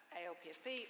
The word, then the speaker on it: ALPSP: I'm of Wiley, but I'm also a director at ALPSP, or ALPS as people tend to pronounce it, the Association of Learned and Professional Society Publishers, and that's why I'm here today.